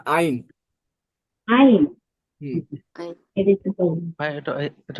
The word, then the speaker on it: Ein: আপু ইন না, আইন বলেন, আইন।